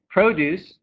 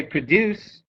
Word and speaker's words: produce: syllable produce achieve right so produce produce can actually be a noun or a verb if i say produce it's a noun if i say produce then it's um so here we have